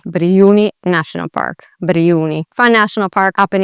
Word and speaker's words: Brijuni: And so if you remember the J really just sounds like a Y, then you'll be on the right track already. So here you'd say Brijuni. Brijuni National Park. Brijuni.